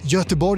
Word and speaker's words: Göteborg: the English name, but he said something like Göteborg or so. What did he say? Say that again. Swedish name. Göteborg is the Swedish Göteborg.